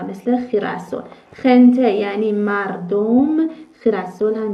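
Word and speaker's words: girasol: مثل خ مثل خ مثل خنته و مثل خیرسل خنته یعنی مردم خیرسل هم یعنی گل آفتاب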